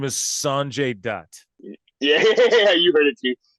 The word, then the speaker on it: Sanjay Dutt: His name is Sanjay Dutt.